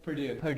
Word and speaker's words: Purdue: Purdue. Purdue.